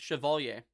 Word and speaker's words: Chevalier: People don't pronounce his last name right. It's Chevalier. His last name is pronounced Chevalier.